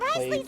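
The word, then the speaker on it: Wriothesley: Let's go head him off at Risley's office. Ry Ryzley. I can never pronounce his name. Ryz Ry Ris. It's weird because you don't pronounce the the in his name.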